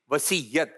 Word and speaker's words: وصیت: چلیں جی, اب ہم نے وصیت کرنی ہے یا وصیت؟ تو سب مل کر بولیں. صحیح جو ادائیگی ہے, صحیح تلفظ ہے, یہ ہے وصیت.